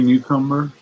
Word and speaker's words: Newcomer: Carrie Newcomer. Carrie Newcomer. Carrie Newcomer. Carrie Newcombers. Rhymes with cucumber.